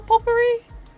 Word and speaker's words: potpourri: in the pot potpourri that's how you spell potpourri what the heck the tea is silent okay i'm different would